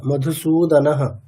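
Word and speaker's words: মধুসূদনঃ: সনাম বিসিদন্ত উবাচ মধুসুদ বিসর্গের উচ্চারণ মিস করলে হবে না মধুসুদনাহ আরেকটা ঋষিদান্ত মানে আমাদের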